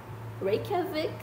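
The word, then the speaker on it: Reykjavík: Reykjavik. Reykjavik. É assim que pronuncia.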